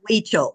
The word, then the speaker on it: Huichol: And so my very first piece of Huichol was a bracelet that literally had, the little green leaves and one flower.